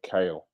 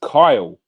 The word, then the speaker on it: Kyle: Yeah, kale. Like the vegetable. But you're not a vegetable. You got brains. You've got football knowledge. You've got good football chat. It's actually pronounced Kyle. Where are you from? Fuck me. You've got a French name. You're from England. And you pronounce it Kyle.